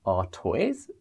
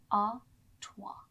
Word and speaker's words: Artois: Absolutely, and especially with the French language, the S on the end is silent. So it's Stella Artois. Sounds really nice, Stella Artois.